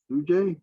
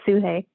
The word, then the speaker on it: Sujay: Sujay, did I pronounce that correctly? Suhey. It's Suhey.